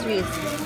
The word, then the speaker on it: Reese's: Reese. Ha? Ano pronounce niya Reese's?